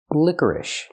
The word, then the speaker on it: licorice: The first vowel is I like this is lick. Licker. Then we have the sound like burger.